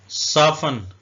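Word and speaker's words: soften: विच का मतलब होता है डाइन या चुड़ल सफन सफन का मतलब होता है नरम करना वाच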